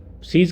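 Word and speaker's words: seize: सीज का मतलब है रुकना, बंद होना या समाप्त होना। सिमिलर वर्ड, प्रोनाउंसिएशन में सिमिलर वर्ड है सीज, जिसका मीनिंग होता है जब्त करना।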